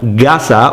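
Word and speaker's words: 笠: Now, gasa, although you hear the G sound now rather than the K sound, that is a common phenomenon in Japanese. It's a pronunciation rule, and basically it's the vocalized version of the K sound, and this happens all the time in Japanese when you put two kanji together. Oftentimes the second one is vocalized in pronunciation.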